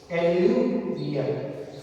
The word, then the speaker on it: alluvial: एल्यूवियल soil. ठीक है, pronounce का ध्यान रखना थोड़ा।